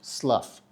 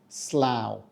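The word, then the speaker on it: Slough: u g h and in this one it rhymes with cow now slow gained Fame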